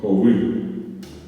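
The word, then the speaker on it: hovy: Y se escribe joui, se dice joui, perdón. Es H, O, B corta, Y.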